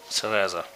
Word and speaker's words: Cereza: Cereza.